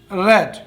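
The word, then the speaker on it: read: Newspaper, newspaper to बी रेड, टू बी रेड, रीड, रेड, रेड, spelling same रहती है।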